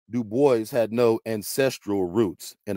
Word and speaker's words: Du Bois: Du Bois. Yes, he always insisted on that pronunciation. He did not like the Gaelic pronunciation, though in his antecedents he was partly French.